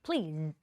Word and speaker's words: Please: ที่ เรา เรียน นะ มัน จะ ไม่ ใช่ Please ค่ S มัน จะ เป็น Please Please นะ คะ ดัง นั้น เขา บอก ว่า